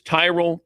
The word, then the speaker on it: Tyrol: It's Tyrell Pickle Ball Shoes. You spell it T Y R O L.